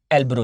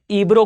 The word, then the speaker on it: Ebro: यहां आपको दिखाई देगा, सबसे इंपॉर्टेंटली आपको मार्क करना है भाई, यहां पर एक रिवर है, इसे कहा जाता है एल्ब्रो रिवर।